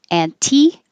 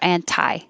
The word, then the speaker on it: anti: annihilation engage engage and you can say this auntie or anti or even no t at all just annie but anti-trust or anti-trust